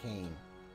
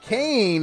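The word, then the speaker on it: Koehn: K-O-E-H-N, and it was pronounced Kane.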